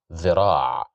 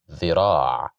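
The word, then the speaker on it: ذراع: Here we have the letter dhal with kasra, so we will pronounce it as the, dhira', dhira', dhira', which means an arm.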